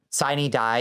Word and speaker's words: Sine Die: Sine Die is a mispronunciation of the Latin phrase for the in like the last days, basically the last day or ending of days. It's the apocalypse in the Georgia legislature, but for some reason they traditionally pronounce it Sine Die, Sine Die.